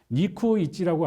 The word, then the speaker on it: 니쿠이치: 니쿠이치라고 하는 것은 291 한자로 써서, 그걸 이제 일본어로 이제 발음을 하면 니쿠이치가 되는데, 이거는 일본군 29명당 위안부 1명이다라고 하는 것입니다.